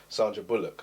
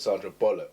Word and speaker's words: Bullock: like a read and I couldn't say the actress's name Sandra Bullock so I said Sandra bollock cuz I real I said it wrong I just kept trying